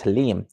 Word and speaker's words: Haleem: think i've always said keep saying that name wrong at the start it's haleem good evening hashtag g-mans